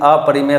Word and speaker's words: अपरिमेय: अपरिमेय संख्या, कुछ लोग कहते हैं अपरिमेय कह सकते हैं, लेकिन करेक्ट प्रोनाउंसिएशन इज अपरिमेय संख्या।